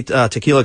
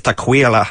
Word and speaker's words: Tequila: she came in and on her driver's license it was spelled tequila t e quu i l a it's never been pronounced any other way so when I said hey tequila can I get your Social she goes it's tequa so that's where Taquila